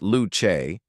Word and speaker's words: Luce: The Ferrari Luce, pronounced "Loo-chay", is Ferrari's first fully electric car.